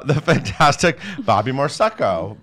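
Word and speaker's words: Moresco: The fantastic Bobby Morseco, rhymes with prosecco, will direct it.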